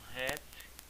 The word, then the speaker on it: hat: Então veja só, a hat, então hat, ó, o H tem som, hat, então a hat, chapéu, um boné, certo?